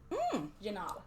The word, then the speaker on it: Janob: Janob? Janob. Pronounced Jim Bob, but spelled differently. Janob.